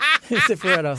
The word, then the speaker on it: Cifaretto: Cifaretto.